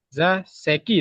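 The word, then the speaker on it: 座席: za seki ですね。 Seki. そうです。 za seki。Selesai. Hai. Za seki. Suwaru itu kita baca za kalau digabung sama kanji lain. Za.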